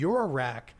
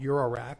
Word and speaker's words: eurorack: a new format called eurorack was defined by a gentleman by name of dopher can you spell that dopher no you EU ro R ACK okay it's like euro like the currents just wanted to make